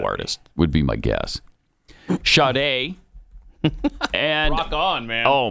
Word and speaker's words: Sade: Sade. Oh, I like that. Mm-hmm. Yeah. Okay. A lot of people put an R in there where it doesn't belong. It's not Sade.